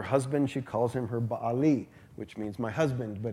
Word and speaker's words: Baal: Baal, and we know that name, Baal, if you're from America.